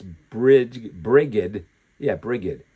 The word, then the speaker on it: Brigid: B R I G I D, but they also pronounce it Bridget.